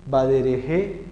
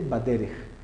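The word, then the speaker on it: בדרך: Entonces, ¿cómo se lee esto? Baderej. No es badereje. Y ahí molesta, ¿no? Eso no es el badereje, ajá, no, nada de eso. Esto es simplemente baderej.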